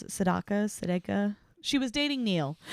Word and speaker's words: Sedaka: she was dating Neil Sedaka is how you pronounce it Sedaka Seda she was dating Neil in high school